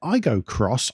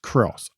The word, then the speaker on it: Aygo X: Welcome to the Motoring Podcast, a Toyota Aygo Cross launch special edition. Hello, Hello, Toyota Aygo X. Cross. It's written as X, but it's pronounced Cross.